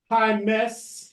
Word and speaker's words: Jaimes: I learned how to say that because she told me that when you are speaking to someone and you say hi, miss, that's how you get to know how to say her last name.